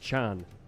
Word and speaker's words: Can: It's pronounced Chan. It's German. Oh, Yeah. Chan.